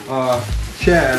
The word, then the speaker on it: Shad: But I found this company, Shad, S-H-A-D, I believe I'm pronouncing it right.